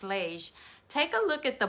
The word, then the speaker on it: Lage: I think her last name is pronounced Lage.